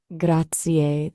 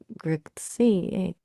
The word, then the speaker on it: grazie: It's a little tricky to convey in just text, but it's like grazie. Emphasis on the first syllable and a bit of a rolling R.